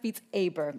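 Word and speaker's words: Beat Saber: I've been told it's pronounced Beats Aber.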